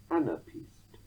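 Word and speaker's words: anapaest: Such a titty-tum foot is called an anapest, as if the foot is a skiing champion, anapest, although it's spelt A-N-A-P-A-E-S-T.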